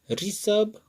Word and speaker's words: ऋषभ: उच्चारण करके देख लीजिए, ऋण, ऋचा, ऋषभ और ऋषिकेश, सभी में छोटी ई के जैसा ही आवाज है।